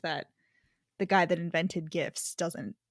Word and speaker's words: GIF: become one of like the age-old like gif versus jif except that it's definitely gif no matter which way you you split it because jiff already exists with a j and it's peanut butter